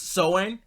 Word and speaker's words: Samhain: It may be spelled Samhain, but it's actually pronounced Soin.